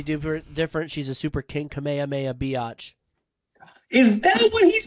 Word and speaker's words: Kamehameha: well yeah that's where it came from it's pronounced kamehame ah yeah okay well never mind then yeah kameha